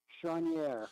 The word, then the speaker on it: Chonier: I think a couple of times you had an extra syllable in there. It's Chonier.